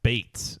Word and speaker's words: Bates: Jake Bates Bates is how you say that name.